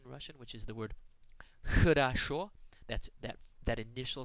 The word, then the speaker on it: хорошо: In Russian, this letter is pronounced like the letter H. It is a little more aspirated than the letter H, and you pronounce it by constricting the airflow.